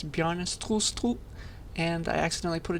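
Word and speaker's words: Bjarne: in 1985 by this nice danish man named bjarna just as a quick edit i learned how to pronounce his name properly it's bjorn and i accidentally put a t here so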